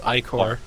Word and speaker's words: ichor: Okay, now he can aid you by giving you his ichor, which they tell you to pronounce ichor.